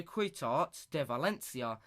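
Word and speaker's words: Ciutat de València: but it study a quit art de Valencia he's the way you pronounce it it's the way you pronounce it in in Spanish in dispensed London know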